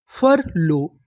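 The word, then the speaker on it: furlough: तो इतनी मीनिंग फर एलो लो फर लो यूजीएच। यहां पर हमें यूजीएच का उच्चारण नहीं करना। यूजीएच हमारा साइलेंट रहेगा।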